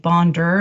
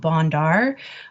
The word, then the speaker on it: Bondar: pronunciation of her name it is indeed bonder not bondar um something that was